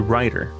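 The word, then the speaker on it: Rytr: inexpensive was one called a writer r-y-t-r that's how it's spelled and I left a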